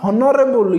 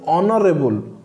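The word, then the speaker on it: honorable: जब आप इसी वर्ड को प्रोनाउंस करेंगे आप कहेंगे ऑनेस्ट, नॉट हॉनेस्ट। ये नॉट हॉनरेबल, इट इज ऑनरेबल।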